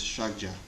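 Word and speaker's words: ཕྱག་རྒྱ: The Tibetan word is shagja. 2 syllables, the first of which, shak, Milarepa says, is a code word for emptiness.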